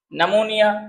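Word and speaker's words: pneumonia: नमोनिया, उसमें भी P silent है, वी कैन से नीमो।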